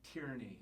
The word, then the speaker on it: Tierney: And you're like, Tierney, and I was like, Tierney, and I kept saying it wrong. You're like, no, like tear and knee.